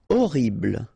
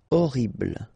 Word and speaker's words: horrible: Horrible. Okay, remember we don't pronounce H here. Horrible.